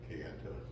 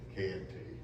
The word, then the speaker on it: Kayenta: a little different because this is how they pronounced it back then, Kayenta. You'll hear it Kayenta in various variations, but let's use the original pronunciation, Kayenta.